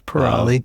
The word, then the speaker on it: Pirali: Well, first, we'd like to welcome either the Siri pronunciation of Pirali or Pirali. It's Pirali, yeah.